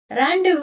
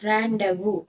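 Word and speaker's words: rendezvous: So, camouflage rand but that is not the correct pronunciation. The correct pronunciation of this word is randu.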